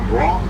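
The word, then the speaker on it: Broughton: Next, we're going to be crossing over Broad Street. Broad Street is spelled B-R-O-U-G-H-T-O-N.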